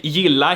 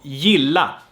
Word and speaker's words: gilla: So let's take gilla here, pronounced with a y sound and not with a g sound here. Remember that? So gilla.